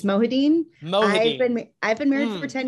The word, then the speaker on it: Mohideen: how's everything uh correct me did i pronounce your name right wrong what do we got we're so close jeremy it's mohadeen i've been married for 10 years and i'm